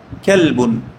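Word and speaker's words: قلب: তো মনে করেন যেটা যদি কুকুর হয়ে থাকে সে বলবে কি হাদা কালবুন কি বলবে হাদা কালবন দেখেন আমরা ছোটবেলায় একটা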